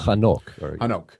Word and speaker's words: Hanok: And you say, "Well, it's Enoch. You know, it's the Hebrew for Enoch. Hanok.